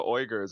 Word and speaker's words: Uyghur: But then they don't talk about the Uyghurs in China. Yeah. They're complaining that Trump's taxing China, but they don't talk about the Muslim Holocaust in China. The Uyghurs. It's pronounced Uyghurs. Yeah. Sorry, Uyghur. Uyghur Muslim.